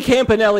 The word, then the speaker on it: Campanale: Yeah, I was like, how do you pronounce that? And Cody Campanale, is that your real name, Cody?